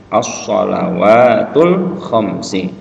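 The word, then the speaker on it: الصلوات الخمس: As-shalawatul khamsi. Jadi perhatikan bacanya. Ini ada alif lam di awal, bacanya walaupun tidak ada barisnya pakai a ya.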